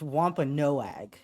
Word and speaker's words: Wampanoag: It's Wampanoag.